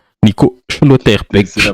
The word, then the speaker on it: Schlotterbeck: Schlotterbeck. Nico Schlotterbeck. C'est la prononce.